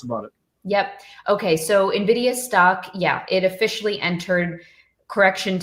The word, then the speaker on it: NVIDIA: Yeah, I hear both NVIDIA and NVIDIA. Yeah. I think you say it correctly. You say NVIDIA. I say NVIDIA. There's no I between it. It's just N and NVIDIA.